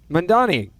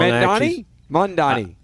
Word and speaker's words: Mamdani: So pronounce the guy's name who's about to be mayor of New York. Mamdani. Nope. So I got it wrong. Mamdani.